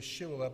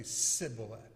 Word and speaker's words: shibboleth: it they would say she will that but if they couldn't they would say siblet and he knew that they were an enemy when they said see bullet and gave rise to